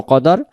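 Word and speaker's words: قدر: উচ্চারণ সূরাতুল কদরের ক্ষেত্রে কফের বেলায় কফ পড়বো কাফের বেলায় কাফ পড়বো তাহলে আমরা পড়বো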